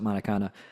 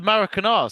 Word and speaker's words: Maracanã: Even my uncle, who doesn't like football, went and saw a match at Maracana, and was like, something else. The Maracanã, sorry.